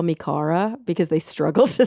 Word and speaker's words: Cara: I'm like, "That's not my name. It's Cara. It's not Cara."